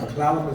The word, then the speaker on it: Clallam: Our Clallam is not our traditional name, it's the English speaker's way of pronouncing our name.